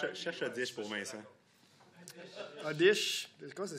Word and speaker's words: Oddish: Odish. Comment ça s'écrit, Odish?